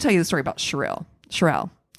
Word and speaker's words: Cheryl: about shirelle shirelle cheryl can't tell you for sure how to say her name because i've heard all three said wow it's spelled it's spelled s or c h e r y l so i would think it would be cheryl cheryl i heard cheril